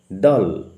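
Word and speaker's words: Dahl: উচ্চারণ লক্ষ্য কর। নট দাল উচ্চারণ হবে দাল।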